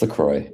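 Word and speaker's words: LaCroix: Like how you say Lacroy, but you've heard the Laqua. Lacroy. It's Lacroy.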